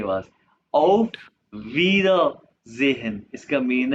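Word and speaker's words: Auf Wiedersehen: ऑफ, ये आई ई को हमने अभी पढ़ा कि इसको ई प्रोनाउंस करते हैं, इंग्लिश वाला ई, वीदा जेहन, ई एस जेड के बाद, ऑफ वीदा जेहन, इसका मीन है बाय बाय, यानी कि सी यू के।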